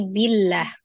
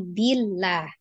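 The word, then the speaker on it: بِاللَّهِ: kebetulan sebelumnya adalah kasrah maka eh dibaca dengan tipis ya jadi Billah bukan bah ya tapi Billah dibacanya dengan tipis kemudian hanya karena dia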